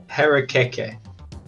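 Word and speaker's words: harakeke: ichang uh wait can you say that other pronunciation again parakeet harekeke uh h a r a k k e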